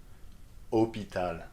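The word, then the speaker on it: hôpital: to pronounce these words hopital that's right so you just read it like there is no h at all okay what about this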